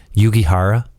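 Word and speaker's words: Jujhar Khaira: Yugi Hara, right?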